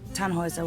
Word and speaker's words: Tannhauser: what's your name Tannhauser we pronounce it tan Wazza with an armload German